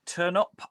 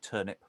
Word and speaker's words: Turnop: Reading Pembroke, Turnop, and or Turnip, possibly, depending on how you want to pronounce it.